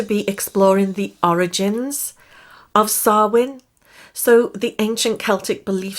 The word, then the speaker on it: Samhain: before we start that the ancient celts pronounced it sarwin say it with me now sarwin now i like personally